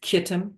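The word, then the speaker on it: Kittim: and and um anyway the CH often is pronounced K like a hard hard sound CH uh so it's kitum with a k or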